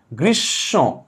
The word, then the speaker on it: গ্রীষ্ম: আর এই যে ম ছিল, যেহেতু ম হচ্ছে নাকের বর্ণ, নাসিক্য বর্ণ ম, সেহেতু এই শেষ ময়ের স্থলে ম আসে পরে, এখানে এটা কি হবে, চন্দ্রবিন্দু হবে, অর্থাৎ এটা উচ্চারণ হবে গ্রীষ্ম, কি হবে, গ্রীষ্ম, নাক দিবে নাকের টান, গ্রীষ্ম, ক্লিয়ার।